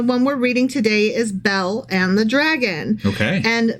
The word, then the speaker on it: Bel: to spell it and you thought it was like a girl's name like be e l l e or something like that um but it's more like the god Bell so think l b